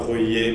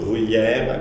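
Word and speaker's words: Ruyer: and the guy whose name should be pronounced not as one thinks, so not Rouillet, but Bruyère, I believe you're supposed to say Raymond Bruyère, who was perhaps legitimately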